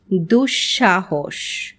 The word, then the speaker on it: দুঃসাহস: তবে পদের মধ্যে যদি বিসর্গ থাকে তাহলে বিসর্গ পরবর্তী ব্যঞ্জন বর্ণটি দ্বিত্ব উচ্চারিত হয়, যেমন নিঃশেষ, নিঃসন্তান, নিঃসম্বল।